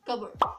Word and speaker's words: cupboard: words that will have the P letter as a silent letter in it. The first word is cupboard. You don't need to say it as cupboard.